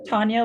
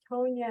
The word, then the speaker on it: Tanya: Tanya like Anya. Tanya. Okay, yeah. Great. I thought it was Tanya, but I thought someone, it is spelled Tanya, obviously, but someone else had told me it was said it as Tonya, and I thought, okay, well, I'll try that. It's spelled differently than some people spell Tanya, but it's Tanya and Anya.